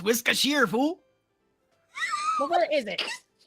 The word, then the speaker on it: Worcestershire: It's pronounced it's pronounced Worcestershire, fool.